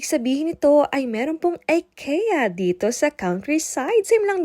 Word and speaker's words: IKEA: nga po natin ay ang IKEA or IKEA IKEA daw po ang tamang pronunciation dito ha Baka ma-bash na